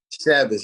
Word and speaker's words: Chavis: Chavis, yeah.